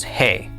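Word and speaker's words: ה: The fifth letter is hey. Hey makes the sound of the letter h. H as in house. At the end of a word the hey is silent.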